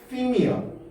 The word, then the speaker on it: theme: 원어민 발음 뭔데? theme이야.